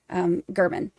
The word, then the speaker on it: German: But it's actually pronounced German.